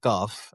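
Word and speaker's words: Qaf: I'm just saying it in Persian.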